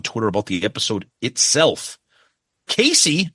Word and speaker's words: Casey: Casey, it's pronounced KC, says, I will say this was interesting.